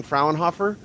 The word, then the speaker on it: Fraunhofer: pronounce things terribly uh how was i even close by saying fraunhofer yes pretty much very good close enough okay so i wonder if